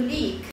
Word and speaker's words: leak: A segunda palavra, cuja transcrição do EA é transcrita com I com dois pontinhos do lado, significa que alonga a vogal.